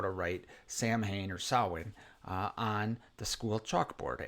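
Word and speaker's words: Samhain: who taught Michael about sin or I'm sorry Sam Hayne I know it's pronounced sin uh but it's they pronounce it Sam Hayne in this movie but who taught Michael out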